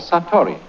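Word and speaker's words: satori: is in Japanese in Zen it is called saturi I'll write that down.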